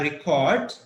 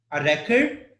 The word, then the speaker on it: record: okay break it yeah American pronunciation says it's a record first one it can be a record or record or to record okay first one has just one syllable okay and the second one has two syllables okay so that is